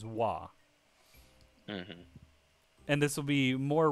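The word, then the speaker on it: は: um character is ha it's used as a marker in the sentence to mark like the subject which means that it's pronounced as wah and this will be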